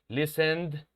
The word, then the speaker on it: listened: ed del pasado, okay, the ed of the past tense is going to be pronounced, se va a pronunciar d, con una d, un sonido d.